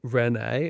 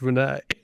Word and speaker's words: Reneé: Like, is it Renee?" And she was like, "No, it's Renee." It was so stupid. Anyway, so it is just Renee, not Renee.